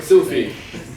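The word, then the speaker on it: Sufy: Sufi. Sufi. S-U-F-Y. Yeah. 18 years, people don't know how to pronounce it.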